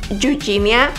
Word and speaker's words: Eugenia: La verdad es que yo sé que en inglés se pronuncia Eugenia, pero pues para todos es más fácil si lo pronunciamos en español, ¿cierto?